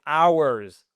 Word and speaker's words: hours: mais on est sur, je vous le fais comme ça, c'est mon alphabet phonétique, mais c'est hours. Au moins là, vous vous souvenez que le H ne se prononce pas.